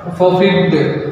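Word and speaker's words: forfeit: they have 45 their freedom, इसको सही उच्चारण है इसका, फॉरफिट देयर फ्रीडम, यानी कि वे फॉरफिट का मतलब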